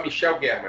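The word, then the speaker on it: Michel Gherman: muito obrigado pelo convite o meu nome é só Michel guerman é mais brasileiro mesmo Michel guerman Ok bom eh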